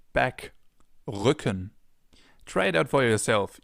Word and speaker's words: Rücken: This sound is different than in English. In English it would be R. In German it's R. We form it more in the back of our mouths.